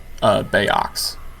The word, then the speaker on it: Bayox: Is it Bayox? Is that the name of the cultivar? Or how do you pronounce that? Bayox. Bayox, okay.